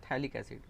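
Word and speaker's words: phthalic acid: इसको बोलते हैं ऑर्थोटोलुइक एसिड, इसको बोलते हैं थैलिक एसिड, पी साइलेंट रहता है।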